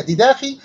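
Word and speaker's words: διδαχή: الكلمة تنطق باللغة اليونانية ديداخي، وكلمة ديداخي يعني عقيدة.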